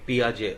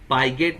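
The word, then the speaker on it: Piaget: हुई है, और पियाजे, हालांकि इसको पाइजेट नहीं, उनको पियाजे बोलना है, पियाजे, पाइगेट नहीं है, पियाजे, पियाजे, प्याज नहीं, पियाजे, जे, ज में ए लगा दो, पियाजे, इनका नाम का उच्चारण ऐसा है, जीन पियाजे।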